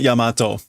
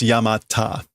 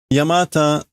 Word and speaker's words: Yamata: branching big snake oh I'm sorry it's not Yamato it's not Yamato it's yamata my bad I was connecting the wrong dots yamata um oh okay no it's a thing it's a thing yamata okay so it's normally pronounced yamata yeah no